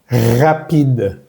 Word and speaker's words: rapide: Rapide, rapide, rapide. Démonos cuenta que aquí la E sin acento al final de las palabras no va a sonar. Rapide. Pronunciamos hasta la D.